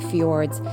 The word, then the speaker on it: fjord: Actually, and I think fjord is actually fjord. I think the Norwegians actually pronounce the D a little stronger.